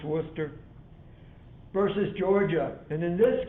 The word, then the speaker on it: Worcester: worcester i know it's spelled worcester but it's pronounced worcester versus georgia and in this case the people